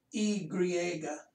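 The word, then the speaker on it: i griega: i it's the greek they call it e griega this means greek so that they might be saying if it were an english translation it would be the greek i but it's y is called e griega and z happens to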